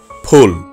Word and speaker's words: ফুল: সঠিক উচ্চারণ ফুল। আমরা অনেকেই ভুল উচ্চারণ করে বলি ফুল, অর্থাৎ ফ এর উপর জোর দেই না। মুখ থেকে ফ উচ্চারণ করার সময় একটু সজোরে বাতাস বের করতে হয়। এখন থেকে সঠিক উচ্চারণটুকু করব ফুল।